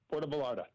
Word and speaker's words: Puerto Vallarta: I get the name wrong. Yep, Puerto Vallarta.